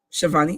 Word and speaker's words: Schiavone: I always get his name wrong. Tony Schiavone. Schiavone.